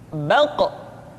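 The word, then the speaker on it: ق: Huruf Qaf diucapkan dengan cara menyentuhkan pangkal lidah kita dengan langit-langit bagian belakang. Qa, qi, qu, baq. Diucapkan dengan suara yang tebal dan dalam posisi sukun, maka terdengar pantulan suara.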